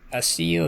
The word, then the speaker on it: Accio: Harry Potter related, so you can use a CO, is that how you pronounce it?